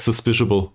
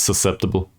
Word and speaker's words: susceptible: But I said suspiciable all the time, and it's susceptible.